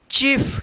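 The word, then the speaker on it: chief: एच आई ई एफ, चीफ, क्या पढ़ेंगे इसको, चीफ। तो देखिए यहां पे सी एच है तो च उच्चारण होगा, और आई ई एक साथ है, आई ई तो ई उच्चारण होगा, चीफ।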